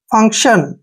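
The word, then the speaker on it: function: टी आई ओ एन एफ यू का उच्चारण यहां पर फ करेंगे एन को आधा न पढ़ेंगे और सी का उच्चारण क करेंगे और टी आई ओ एन को हमने क्या पढ़ना है शन फंक्शन फंक्शन फंक्शन क्या होता है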